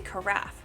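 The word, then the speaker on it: carafe: I'll look up how to pronounce the word Uh pronunciation craft carff carff. It's a carffe.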